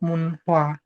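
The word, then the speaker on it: 문화: Tapi untuk kosakata ini, Teman-teman, dia dibacanya tetap munh ya. Kenapa kok gitu? Ee karena pada dasarnya penghilangan huruf itu enggak diwajibkan. Jadi untuk ini dia tuh tetap dibacanya tetap munha.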